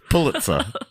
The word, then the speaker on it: Pulitzer: The Pulitzer. How do you say it? That's correct. That's right. Yeah, but not the What did you say? The Pulitzer. Pulitzer.